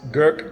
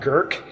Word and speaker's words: gerk: by the way it's gerk not gurk there's no r in there if you take the word gerk and say it like you're from boston and don't pronounce the r that's what that is